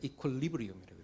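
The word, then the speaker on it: equilibrium: 이거를 영국 애들은 이퀄로브리움이라고 읽어요. 이퀄로브리움. 그 다음에 미국 애들은 이거를 이퀄리브리움이라고 읽어요.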